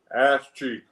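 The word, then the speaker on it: AzChike: You know how it's pronounced? Ash G.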